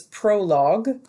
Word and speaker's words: prologue: will study the plays prologue so you can see in bold that word prologue pronounced pro log as in something you'd stick in your wood burner okay but in this